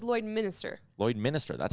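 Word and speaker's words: Lloydminster: But Tyler says Lloyd Minister. Lloyd Minister. That's how it's spelled.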